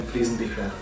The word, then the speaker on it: Friesenbichler: My name is pronounced Fliesenbichler.